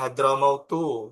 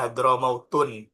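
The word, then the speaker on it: حضرموتُ: Maka ketika tarkib masjid, alamiah tarkib masjid, itu cara bacanya hadramautu. Nggak boleh dibaca hadramautun.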